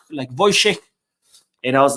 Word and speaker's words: Wojciech: And the W's are pronounced V. And they have a lot of sh sound and like Wojciech.